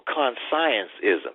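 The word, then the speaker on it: Consciencism: And his book called Conscientism or Conscienceism, as he pronounced it, he quoted Karl Marx.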